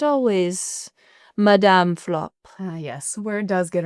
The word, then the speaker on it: Flop: Now, I understand that your name is, did I pronounce it correctly? Is it Flappy? Flapper. Madame Flop.